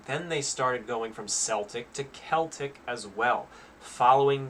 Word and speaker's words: Celtic: calling it so presumably the first celtic which was long before the pronunciation shift would also have been called with a with a soft c as well and that's but i